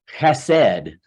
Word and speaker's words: chesed: Sometimes it's spelled H-E-S-E-D, but a lot of times you see it with a C-H-E-S-E-D because it's, what did they use the term guttural? Hebrew has that kind of thing.